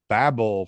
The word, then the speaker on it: Babel: And Reggie Nalder, Journey to Babel from 1967.